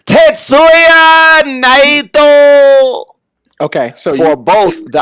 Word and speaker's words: Tetsuya Naito: No, I'm sorry, I said his name wrong. Tetsuya Naito.